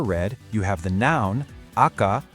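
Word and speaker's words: 赤: For the color red, you have the noun, aka, pronounced aka, that's the name of the color itself.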